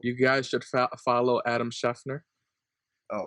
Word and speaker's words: Schefter: You guys should follow Adam Schefter. Oh, right, that's how you pronounce his name.